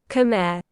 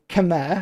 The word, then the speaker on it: Khmer: show it to you, it literally says British pronunciation. Khmer. Khmer rhymes with bear, right? And then you've got Khmer. Khmer, which is rhymes with come here. But people go, oh, it's Khmer. And it's like, no, it's not. It's Khmer. Khmer.